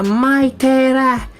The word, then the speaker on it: Maitera: Nhìn rất giống là Makita nhưng đọc là Maitera.